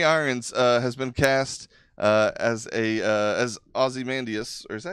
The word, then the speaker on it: Ozymandias: I just say Osmandius, Okay. but you can put the E on there. I don't think anybody's gonna give a shit. Yeah, it's got the Y in there. You can pronounce it either way.